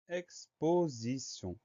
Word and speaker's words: exposition: Donc le son T, la lettre T va se prononcer S.